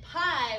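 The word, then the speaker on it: pai: we have may or i think it was pronounced mai it looks like may yeah and then pie was i think that was her dad yeah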